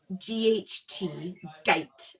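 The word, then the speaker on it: Gight: the name is called gate castle g-i-g-h-t gate a bit like light with the g yeah it came right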